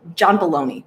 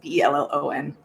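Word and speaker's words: Bellion: John Baloney, I think is how you say his name. It's Belloni.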